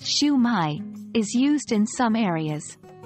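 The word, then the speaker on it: Shwmae: I or Haya while in Wales schwa Mai pronounced shumai is used in some areas while these aren't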